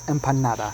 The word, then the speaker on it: empanada: costa rican food that should be pronounced empanada by the way